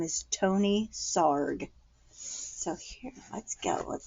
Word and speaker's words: Sarg: this little puppet says SAR rhymes with ARG and he was born